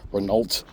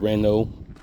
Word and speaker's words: Renault: I bought that damn Renault, if you're American, and how we pronounced it back in the fucking 80s, Renault, but it's Renault, French.